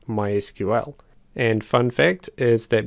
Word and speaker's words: MySQL: database vendors for example MySQL is pronounced as MySQL whereas Microsoft SQL Server is pronounced as SQL Server sometimes I trip up